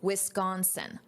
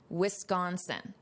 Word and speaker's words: Wisconsin: Notice this pronunciation, Wisconsin, Wisconsin.